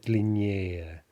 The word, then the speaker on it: длиннее: ending yeah, yeah, which very often is stressed for comparatives with two syllables or fewer, right? So silny, slabby, длинный, we expect to get stressed yeah, yeah, as in сильнее, слабее, длиннее.